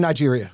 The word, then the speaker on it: Niger: N Niger and Nigeria. You mispronounced it.